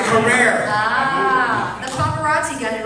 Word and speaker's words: Carrere: TI take a seat did I say your name right Carrera I got it phonetically spelled it's career oh you were right you were right career ah the paparazzi got